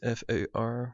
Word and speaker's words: FAR: to see here is f a r which i pronounce as far and fractionally angle three